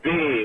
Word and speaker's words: plumb: So Plumb with a silent B at the end.